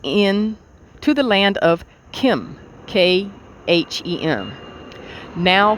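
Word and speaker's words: Khem: exodus from atlantis many of us followed thought pronounced thought t-o-t-h was that though to to the end to the land of kim k-h-e-m now called egypt there he built the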